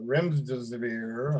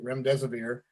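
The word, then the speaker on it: remdesivir: dexter dextra methisone and uh rims deserver i believe that sounds pronounced uh which is another i'm sorry ram deserver thank you rem deserver another medication that trump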